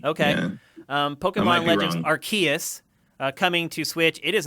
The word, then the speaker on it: Arceus: I think it's Arceus. Arceus, the hard C? I think that's a hard C. Okay. Yeah. Pokemon Legends Arceus coming to Switch.